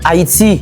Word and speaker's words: Haïti: Premièrement, oui, Haïti est perçu comme un état insulaire, mais H muet qui dans Haïti a, li fait que phonétiquement, leur monde dit Haïti, c'est comme s'il pas de H, il commençait avec A.